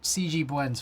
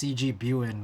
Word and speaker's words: CGBU: name no no no C CG bu's fine but also I've heard it pronounced CG buan which has always amused me so you could call me that too the first time I